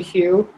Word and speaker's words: Hu: So his last name is spelled H-U, but his nickname is spelled like Who with a question mark, or that's what the nickname was, which is funny.